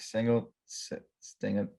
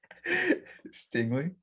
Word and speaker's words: Stingley: what i'm saying um but i guess derek single stinger all right you got it stingley yes all right i just had to uh